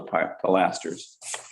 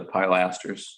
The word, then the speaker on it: pilaster: Just on top, I think, on top of the pilasters. The pilasters or pilasters? I've always pronounced it pilasters, but Pilasters. Too. that was a masonry contractor. I was gonna say in the south, it's pilaster.